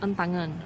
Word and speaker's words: Entangen: This cafe is called Entangen, E-N-N-T-A, Ta, and then N-G-E-N, Ngen. So this is called Entangen.